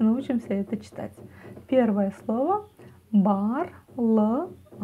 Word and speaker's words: Барлығына: Первое слово барлығына. Ударение на а, барлығына на последнюю а, да. Снова делим все по слогам. Буква «ы» практически не произносится. Бар, барлы, барлығы, барлығына.